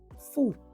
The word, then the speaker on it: fu: Ningil en dit is vandaag kijken we naar het bezit aangeven met het voorzetten vo. Vo is precies zoals je het uitspreekt. De U wordt als een OE klank uitgesproken. Oe.